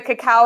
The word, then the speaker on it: cacao: You can purchase it pretty much any store now, but just look for cacao. It's spelled CACOA. AAO. Yeah, right, instead of cocoa powder. So cacao powder versus a cocoa powder.